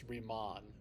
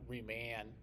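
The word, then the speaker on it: Riemann: And when you have a double N at the end of a word in German, it makes the the vowel before it long. It's remon, not reman.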